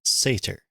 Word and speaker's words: Satyr: Okay, so it's pronounced Satyr.